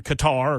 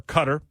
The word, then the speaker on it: Qatar: Bank the leadership of course they reside in Qatar or Cutter depending on how you pronounce it they're not even in the area